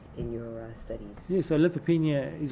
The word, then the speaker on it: lymphopenia: Lymphopenia, and I know I'm mispronouncing that, lymphopenia, thank you, is usually the most